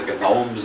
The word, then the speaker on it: gnomes: As far as I know, he was the only one that ever pronounced the G in gnomes. We call them the gnomes of Zurich.